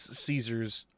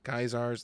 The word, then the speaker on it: Caesar: He is a boogeyman for Kaiser's Legion. How do you guys pronounce it, Caesar or Kaiser? They pronounce it Kaiser in the games.